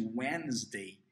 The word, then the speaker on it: Wednesday: o Day Number tuesday wednesday presta atenção na pronúncia de wednesday que a gente não pronuncia o d a gente vê o d ali mas ele não é pronunciado olha só when e